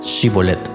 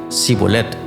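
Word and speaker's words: Shibboleth: Ellos le pedía que pronunciaran la palabra Shibolet. Si el hombre de Efraín decía sibolet, porque a la gente de Efraín le cuesta pronunciar bien esa palabra, entonces se lo llevaban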